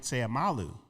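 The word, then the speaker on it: Seumalo: Uh Isaac Seamalu. Is that how you pronounce the name?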